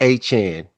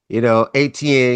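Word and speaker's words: Achane: He says it's pronounced Achan. Okay, He said he just accepted, ATN because he was in Florida, and but it's actually pronounced Achan.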